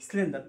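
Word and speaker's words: cylinder: سلندر سلندر تاني سلندر نطقت الاس هنا ليه نطقت السي اس هنا ليه دي فونكس بقى بنطبقها على على اللي احنا بناخده نطقت الاس سي ليه عشان وراها حرف الاي احنا قلنا الاس لما السي لما يجي وراها اي او اي او واي بنطق السي اس غير كده بنطقها ايه كي يبقى سلندر سلندر سلندر سلندر ممكن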